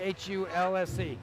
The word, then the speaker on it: Hulse: How do you say H-U-L-S-E? Say that again? How do you say H-U-L-S-E? Pulse like a pulse.